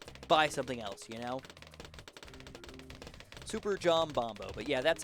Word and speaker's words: Superjombombo: So Super John Bombo.